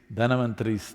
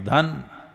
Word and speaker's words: Dhanavantari: It is Dhanavantari's Trayodashi. North Indian people must connect, don't go on clipping away one syllable and come Dhanavantari becomes Dhan, Trayodashi becomes Tera. Don't keep clipping it away.